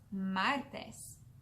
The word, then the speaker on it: martes: The word in Spanish for Tuesday is martes. Now you try it. Martes. Muy bien. Martes is spelled M-A-R-T-E-S.